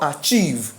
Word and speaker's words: achievement: here is what achieve my stress is on what is it achieve or achieve is achieve mean that the triangle Turns Upside Down and the stress is now on the second which is cheve so if I ever